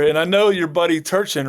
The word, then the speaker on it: Turchin: And I know your buddy Turchin, right? Did I say his name right? Yeah, Peter Turchin, yep.